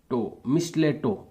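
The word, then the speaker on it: mistletoe: सम parasite plants, कुछ parasite पौधे, like मिस्टेलियो, मिस्टोई plant, इसका जो प्रोनाउंसिएशन है मिस्टलेटो, ये करेक्ट होगा, मिस्टलेटो।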